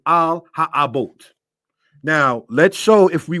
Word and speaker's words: על האבות: Call this one here concerning the fathers in Hebrew pronounced as al ha abote.